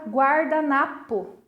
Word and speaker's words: guardanapo: E observem que na palavra guardanapo, a vogal U tem som, ela é pronunciada, diferente da vogal U na palavra guerra. Aqui ela não possui som, ok?